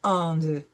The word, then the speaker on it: Inde: We have an E following a D, so we're going to pronounce the D. Nous habitons en Inde.